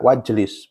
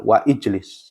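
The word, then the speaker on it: واجلس: Ijlis asalnya dibaca wajlis, bukan wa ijlis.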